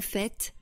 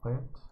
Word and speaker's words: fait: En fait. Henri n'est pas mince. En fait, il est un peu gros. So the T here is pronounced.